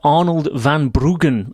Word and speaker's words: Arnold van Bruggen: In 2009, Rob and writer and filmmaker Arnold van Bruggen, and I'm told by Rob that is exactly the correct pronunciation, started the Sochi project,